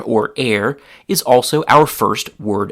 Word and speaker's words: er: That root is air which is pronounced like the word air like the air that a person breathes but it's written differently and it has a different meaning.